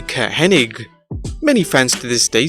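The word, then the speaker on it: Curt Hennig: of his name with many fans still remembering it as kurt henning when it was actually ka hennig many fans to this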